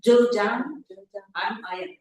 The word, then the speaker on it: Zhejiang: Kumada Nauku, lecturer at the School of International Studies at, how do you pronounce this? Zhejiang University. Zhejiang.